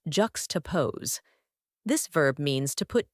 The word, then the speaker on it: juxtapose: like an art critic or a deep thinker pronounced ju toosee this verb means to put two things side